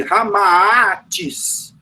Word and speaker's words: Ramatis: O próprio nome Ramatiz, por exemplo, ele é inverso, né? É Sita Rama. E aí, juntando as duas coisas, você tem o nome Ramatis. É assim que se pronuncia.